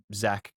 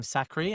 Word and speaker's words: Zach: I was like joking, called him Zachary, and it's not Zachary, it's just Zach. Get your name correct, pronounced correctly. Yeah.